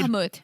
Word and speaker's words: Mahmoud: I think it's Mahmoud. Mahmoud. It's not Muhammad because he's got a brother Muhammad.